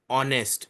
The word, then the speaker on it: honest: Now when we say honest we again have a silent H.